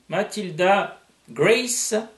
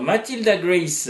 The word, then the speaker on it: Matilda Grace: C'est vrai que, Oui, comme je disais tout à l'heure, je suis tenté de le prononcer à l'anglo-saxonne. Et bon, et tu m'as confirmé que à l'origine, ça se prononçait à l'anglo-saxonne, exactement.